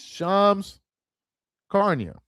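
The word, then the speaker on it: Shams Charania: Y'all are Charles pronounced Shamsc- I still can't pronounce that dude's name. It's Shams Carnia.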